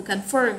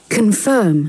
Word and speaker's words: confirm: Ok, từ verify nhấn trọng âm ở âm số 1 và từ confirm nhấn ở âm số 2. Verify. Verify. Confirm.